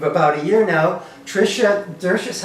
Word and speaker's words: Dzuris: Silent Z. Dzuris. So Tricia Dzuris, how long have you been the town clerk now, Tricia, here in Chelmsford?